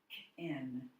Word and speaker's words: napkin: Nap, nap, nap, napkin, napkin. Okay, so the first syllable in this word is said louder, longer, higher.